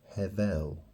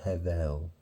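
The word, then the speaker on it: הבל: it's very interesting because it sounds like the first part of Heaven have and then L you know if you took the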